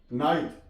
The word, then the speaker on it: night: नाइट, NIGHT, अब H से पहले जी आ गई है तो यहां पे जी साइलेंट है, नाइट। CAUGHT, H से पहले जी